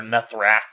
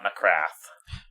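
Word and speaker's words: Nithra: anal thecraft album or nethra album coming out as well is that how you pronounce it yeah it's nethra not NRA nethra an all NE bizarre yeah AMG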